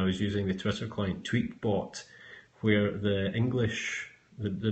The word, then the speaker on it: Tweetbot: using the Twister client tweet bot where the English the the British English voiceover voice pronounced it tweet but instead of tweetbot so I relabeled it